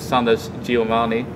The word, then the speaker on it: Sundance DiGiovanni: at MLG Anaheim and I'm sitting here with Sanders Giovani do I pronounce it correctly yes absolutely perfect so has